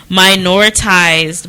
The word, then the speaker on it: minoritized: let me see it it's one of those words that make your tongue moving away it shouldn't move i just want to minoritize right i said it right right yeah like there's an extra i in there in the r and